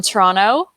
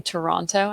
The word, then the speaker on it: Toronto: we have jennifer from toronto did i say that right without you know saying toronto i know that people from toronto generally don't pronounce the second t welcome thanks for joining